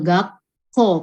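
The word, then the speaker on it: 学校: Pakai tsu kecil, gakko karena dia double k.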